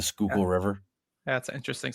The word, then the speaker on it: Schuylkill: It's like Schuyler, something like that. It's like it looks nothing like it's supposed to. The Schuylkill River.